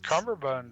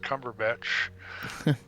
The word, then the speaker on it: Cumberbatch: They add extra syllables there to aluminum. They have Benedict Cumberbatch too.